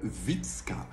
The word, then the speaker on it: Wytska: Ça ne le fait pas, mais nous allons voir ensemble Witzka. Witzka, c'est un prénom qui n'est pas courant, qui s'écrit W-Y-T-S-K-A.